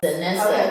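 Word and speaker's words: Danessa: on the main stage denessa Merck was there denessa that's how you say her name yes and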